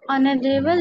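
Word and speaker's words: honorable: यस, सर वो आप ऑनरेबल लिखे हैं। ऑनरेबल, ऑनरेबल person. सर उन्हें साइलेंट वर्ड्स करके लिखे क्या?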